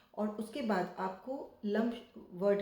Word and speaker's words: लं: इसका जो साउंड है यह लम है।